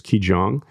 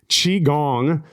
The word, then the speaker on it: Qigong: I started studying alternative techniques such as Qigong, yoga, and Qigong. Sorry, I'm saying it wrong. Qigong, yoga, and somatic therapy.